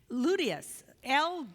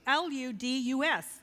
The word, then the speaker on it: ludus: Then there is ludius, L-U-D-U-S, ludus.